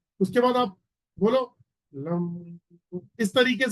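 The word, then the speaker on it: लं: उसमें क्या करना है, जैसे एग्जांपल के तौर पर रूट चक्रा का जो बीज मंत्र है वो है लम, LAM, लम। तो उसमें उच्चारण चलता है लम।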